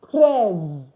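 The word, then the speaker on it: treize: 13 is pronounced as prayers.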